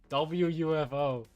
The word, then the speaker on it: WUFO: Oh, it's UFO. I was thinking it was UF off. Like, you fuck off. But okay, UFO. WUFO. I was reading it wrong.